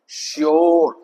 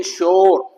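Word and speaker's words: sure: यू में भी है यू आर इ जैसे आएगा श्योर ओ की साउंड है इन श्योर आगे हम एक और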